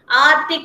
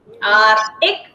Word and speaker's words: Arctic: Arctic. Arctic Ocean. Ocean spelling. O-C-E-A-N. Arctic Ocean. Yes, here C is silent.